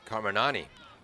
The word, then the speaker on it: Carmignani: That's Tori Carminani. My brother Michael tells me not to pronounce the G's in Italian names.